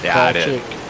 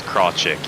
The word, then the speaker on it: Krawczyk: I didn't know his last part of his name, so it's Krawczyk. I didn't know how to pronounce it either until I talked to him one time and asked him. It's Krawczyk, yeah.